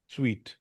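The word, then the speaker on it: suite: स्वीट। कुछ लोग इसको सूट भी बोलते हैं। तो लेकिन ये बल ये स्वीट इसकी प्रोनाउंसिएशन स्वीट है।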